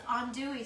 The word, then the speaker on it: andouille: Lori, it's andouille sausage, right? Andouille sausage, yes. And that's spelled Andouille.